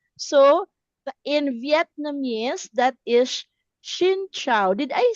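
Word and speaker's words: Xin chào: So in Vietnamese that is Shincho. Did I say it correctly? Shincho.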